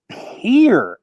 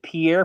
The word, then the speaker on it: Pierre: in the language but no one in South Dakota says Pierre we all say Pier including everybody uh that